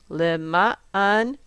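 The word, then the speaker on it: לְמַעַן: So the accent is on the ma. So we need to make lema'an sound like munach. So lema'an.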